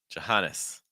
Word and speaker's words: Johannes: Sil again and then Johannes Johannes very weak first Johannes Maria we've seen Aurora